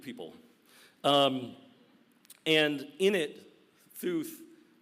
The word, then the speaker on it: Theuth: Um and in it Theuth t h e u t h Theuth you understand I'm not mispronouncing Zeus.